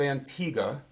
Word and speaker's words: Antigua: hours now it went over the island of Antigua and Barbuda okay that's actually the pronunciation of those two islands I've been down